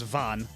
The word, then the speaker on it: Vent: because like it's spelled the same way cuz va is in French is spelled v e n t and the Japanese uh voiceover says van cuz that's how you transliterate vaugh into Japanese so they just call him vent.